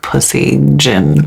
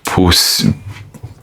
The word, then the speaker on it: Puisseguin: The word on it literally is like pussy gin. I wouldn't even know how to pronounce this at all. It's Puisseguin. I wish I could see your face.